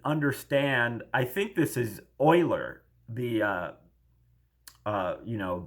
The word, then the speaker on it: Euler: spelled like Euler so uh but it's apparently pronounced Euler but that's Euler's equation that uh to interfering